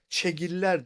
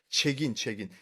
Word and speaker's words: Çegin: Kannibalizm hakkında çegiller değil evvela. Siz onu çegiller şeklinde telaffuz ediniz. Çegin.